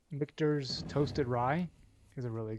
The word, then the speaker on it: Michter's: The first time Michael has, on the first try, gotten Michter's announced and pronounced correctly.